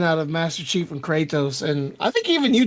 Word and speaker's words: Kratos: It's Kratos. Kratos. You're like adding an extra syllable in the middle of his I'm not name.